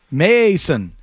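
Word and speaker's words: Maason: Mason is spelled M-A-A. Mason.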